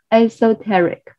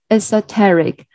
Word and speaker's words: esoteric: pronunciation against a song esoteric so here the letter e pronouns like essa esoteric and yeah the stress is on the second syllable as hectaric esoteric elements